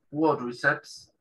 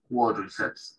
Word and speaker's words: quadriceps: Esa A, ellos la pronuncian como una A. En inglés británico es como una O. Quadriceps. Ahora, en inglés americano sí se pronuncia como una A larga. Quadriceps, dicen ellos.